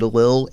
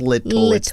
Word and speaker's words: Little: Let's talk about Healthy Little Peach as far as, and it's very hard for me not to say Healthy Lil. It's Little. It's the correct pronunciation.